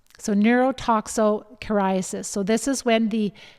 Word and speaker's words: neurotoxocariasis: It's neurotoxocariasis. So neurotoxocariasis.